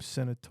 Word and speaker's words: Seneatore: one and only um is you pronounced your last name Senator or is it Senor I was I KN